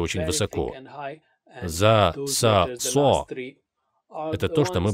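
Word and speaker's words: ز: и так же помните что некоторые произнося эту букву касаются кончиком языка верхних зубов я тоже так делал раньше но это неправильный махнач то есть артикуляция или произношение буквы за правильным будет касаться кончиком языка края нижних зубов и со звуком произнести за надеюсь вы помните линий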